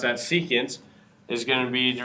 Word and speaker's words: secant: ratio which is going to be secant we pronounce that secant is going to read the reciprocal of cosines